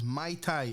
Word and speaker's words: Muay Thai: It's MyTy. It's like the fruity drink. That's how you say it, and that's the end of.